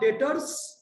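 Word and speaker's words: debtors: बाद इन्वेस्टमेंट उसके बाद डेटर्स बीटी एस बी इसमें साइलेंट होता है डेप्ट मत बोलना डेटर्स यस सर हां ये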